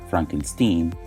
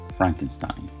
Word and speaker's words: Frankenstein: much so that he asked people to pronounce his name Frankenstein instead of Frankenstein however when he's called